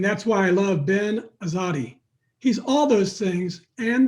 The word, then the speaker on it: Azadi: got in the air is that the correct pronunciation azadi you said it right good job right on